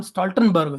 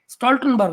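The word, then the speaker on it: Stoltenberg: यार इस बंदे को नाम लेना भी नहीं आता, उसका नाम स्टॉल्टनबर्ग है।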